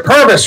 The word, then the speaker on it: Purvis: Arthur Purvis, rhymes with service.